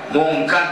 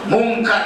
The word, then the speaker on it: Munkar: Jangan dibaca Munkar dan Nakir. Jangan begitu. Itu bacanya tidak benar. Munkar dan Nakir.